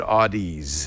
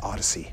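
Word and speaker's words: Audeze: Mobius and this is so you pronounce that Odyssey cuz I've always said Audis I've said Audis until someone it's odd as someone pulled me close and said it's Odyssey okay which you know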